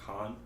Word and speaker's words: Caan: Or Caan? As yeah. But how do you pronounce the last name? I think Caan.